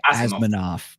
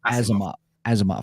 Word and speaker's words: Asimov: I always say Asimov, but I'm Asimov. Yeah, it's kind of like a Russian. Has a Russian tingle to I'm it.